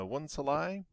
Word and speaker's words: 1Salai: muchas gracias to uh one salai that is how how his name is pronounced i have finally figured it out uh from his own videos uh thanks to one's